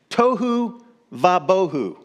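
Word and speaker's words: תֹהוּ וָבֹהוּ: empty formless and empty the Hebrew is tohu vabohu it Rhymes formless and empty tohu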